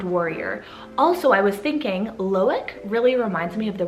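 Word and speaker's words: Loïc: So for L, this one is the name Loic, so spelled L-O-I with the 2 dots, C. So Loic is actually pronounced a little bit different if you move over to Europe.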